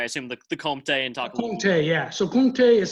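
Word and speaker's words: Comté: Comte, yeah. So Comte is spelled C-O-M-T-E, and it's a mountain cheese that's made just like 100 kilometers to the west, and it's very similar.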